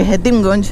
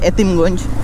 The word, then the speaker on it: হেতিমগঞ্জ: আমরা এতিমগঞ্জ বাজারও আইছি যদিও বাইকের সঠিক উচ্চারণ লাগে হেতিমগঞ্জ বাট সব মানুষে ডাকে এতিমগঞ্জ আমিও প্রায় এতিমগঞ্জ ডাকি যেহেতু প্রচলন হয়ে যায়